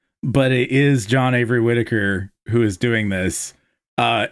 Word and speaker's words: Whitaker: H will never be revealed, but it is John Avery Whitaker who is doing this. Uh and the reason he's Mr. H is because the H is silent in Whitaker.